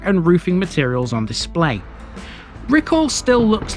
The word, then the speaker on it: Riccall: to today's parish video recall which is pronounced sometimes as ricol lies three and a